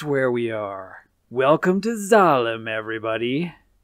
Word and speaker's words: Zalem: Welcome to Zalem, everybody. Or Salem, as it's spelled with an S, but the katakana is Zalem.